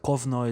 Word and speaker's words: Kovno: for that matter but kovnoy is how they would pronounce the lithuanian city of konas and so the rabbi